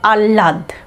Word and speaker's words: আহ্লাদ: কেউ কেউ, কোনো কোনো গবেষক এই হয় লয়ের উচ্চারণে হয়ের উচ্চারণটা না করে হয়ের পরিবর্তে লয়ের উচ্চারণটা দুবার করেন। যেমন দেখো আ হয় লয়ে আকা দো, উচ্চারণটা হবে আহ্লাদ, আহ্লাদ। তো এখানে যখন এইভাবে উচ্চারণটা করছি তখন কিন্তু হয়ের উচ্চারণটা বোঝা যাচ্ছে না।